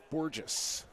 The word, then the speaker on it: Borges: Just getting a pronunciation correction on Borges. Borges? Yes. Rhymes with... Okay, I'm not going to say it.